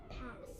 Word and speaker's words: pass: Right, so one S is silent, I can cross it out, and then my short vowel, short A, can get a breathe. What's our word? Pass.